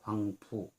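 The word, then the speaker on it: 黄浦: 황포강의 중국 발음이 황푸.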